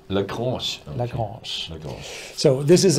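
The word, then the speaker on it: Château Lagrange: first is a French language task for you, pronunciation. Le grand le French or Paris. So how do you say it really? Chateau Lagrange. Lagrange.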